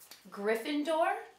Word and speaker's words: Gryffindor: the four Hogwart houses they're all pronounced the way they they look but I'm going to pronounce them just in case Gryffindor Ravenclaw Hufflepuff and and